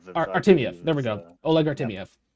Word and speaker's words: Artemiev: As far as I know, I can't pronounce his last name. Artemiev. Artemiev.